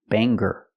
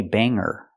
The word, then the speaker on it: banger: pronounce the word Banger Banger we don't pronounce the hard G sound we say Banger Banger and what is a